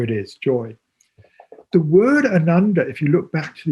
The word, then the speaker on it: Ananda: And Ananda is often translated as bliss.